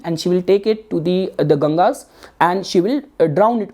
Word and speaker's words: Ganga: So later on what happened, the story goes like this, that the goddess Ganga, the western listener and audience, they pronounce that as the Ganjas.